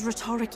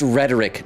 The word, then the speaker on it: rhetoric: There's something beyond rhetoric in her words. No. There's definitely magic there. Yufa, it's pronounced rhetoric, not rhetoric. Sister! I know you say like rhetorical, but it's like... everyone? It's rhetoric.